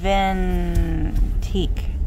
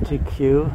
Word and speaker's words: Vintique: Vintique. How do you say that? V-I-N-T-I. It's like the end of antique.